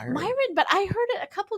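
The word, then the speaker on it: Miran: It's Myin. Just say Myin. Myin.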